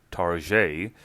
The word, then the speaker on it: Target: wannabe Market discount firm Target facetiously pronounced in the French fashion as Target had purchased this issue